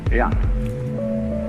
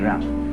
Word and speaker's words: Ren: In Confucius philosophy, the fundamental virtue of a human being is called Ren, spelled J-E-N for reasons best known to Chinese scholars. I don't know what they are, but it's pronounced Ren.